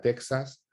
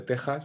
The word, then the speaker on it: Texas: con ese mismo ejemplo cuando gente aquí en España te pronuncia Texas en vez de Tejas verdad o incluso te